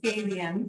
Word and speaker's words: gabion: Gabion is the spelling, and it's pronounced Gabion.